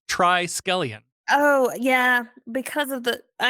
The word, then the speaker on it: Triskelion: off the Jump that I've been saying it wrong up until watching the episode I thought it was like is it triskellion but it's try scallion oh yeah because of